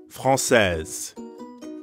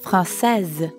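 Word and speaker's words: française: instead i'd say frances francaise notice the change in the pronunciation franc says but i'm a man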